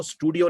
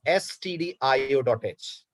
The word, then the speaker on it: stdio.h: और क्योंकि हमें printf यूज करना है, इसलिए हम लोग stdio.h को, स्टूडियो नहीं है तनिषा, ध्यान दीजिए स्पेलिंग पे, बहुत सारे स्टूडेंट इसको स्टूडियो बोलते हैं। .h, remember this, it is stdio.h।